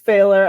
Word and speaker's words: Pfahler: It's that H, so it's P as in Paul, F as in Frank, AHLER.